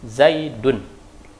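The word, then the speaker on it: زيدٌ: Bacanya ada, tapi tidak ada tulisannya. Contoh, Zaidun. Tanwin dhammah. Tanwin dhammah di situ. Tidak ada nun, tidak ada nunnya, tapi bunyi nunnya ada. Zaidun, nun. Ada nun terakhir itu.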